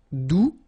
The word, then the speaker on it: doux: All right, doux, you don't pronounce the final X.